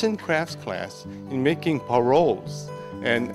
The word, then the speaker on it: parol: Lito, tell us, how you pronounce parol? Parol. Parol. You gotta have that rolling R. Roll, parol.